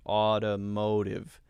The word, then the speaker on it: automotive: pronounce automotive automotive automotive notice that both of the t sounds for that one are light d sounds automotive automotive automotive automotive automotive